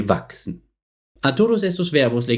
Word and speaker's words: wachsen: Quiero destacar el último ejemplo, wachsen, crecer, por un momento. Por supuesto tiene una S como última letra, pero la combinación de las letras CHS pronunciamos como una X.